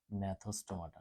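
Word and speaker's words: Gnathostomata: ন্যাথোস্টোমাটা। হ্যাঁ, জি দিয়ে শুরু করুন, জি সাইলেন্ট থাকে।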